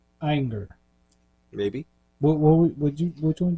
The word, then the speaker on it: Ayinger: think it's pronoun pronounced anger maybe what you which one did you say ier ier I think it's more like anger like like hey yo they're not